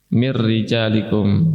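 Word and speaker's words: مِن رِجَالِكُم: Nah, ada frasa "mir rijalikum" di sana. Di sini, apakah ro dengan tashdid dibaca tebal atau tipis? Dibaca tipis karena harakatnya kasrah, ya.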